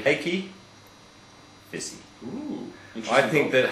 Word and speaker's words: Heikki: Renault, Giancarlo Fisichella and Heikki, and it is Heikki, pronounced Heikki, not Heikki.